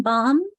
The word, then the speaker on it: bomb: I think about bombard bombastic him hymnal so you can see sometimes those silent letters become sound.